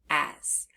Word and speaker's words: as: at that second letter the S we hear the z sound but it's spelled with s now we might not have learned the rule yet about how sometimes the letter s can make a z sound and not just a s sound so that's why this